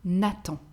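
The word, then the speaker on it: Nathan: girls a masculine name natto natto natto the h is not pronounced letter o we have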